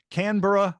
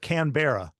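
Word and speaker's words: Canberra: Catholic speaker author businessman and executive coach from canura Australia how did I do in the pronunciation that was pretty close I I will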